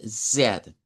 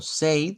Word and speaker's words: said: Y claro, nos dice, "The Lord God said." Como esto es pasado simple, este diptongo se pronuncia con una E. Vean, no lo vamos a pronunciar como say.